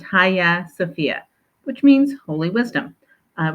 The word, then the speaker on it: Hagia Sophia: correct way to pronounce it it looks like Hagia sopia but it's actually pronounced Haya sopia which means holy wisdom it was originally B